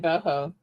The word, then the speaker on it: Bochow: Oh, they pronounce it boho.